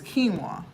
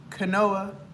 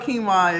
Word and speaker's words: quinoa: vegan this is anybody it's quinoa Canoa so if you don't know what quinoa is it's spelled like looks like Canoa q i n o a full of protein it's